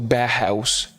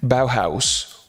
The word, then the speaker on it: Bauhaus: something like similar to bear house bear house sorry very bad pronunciation bauhaus or anything of the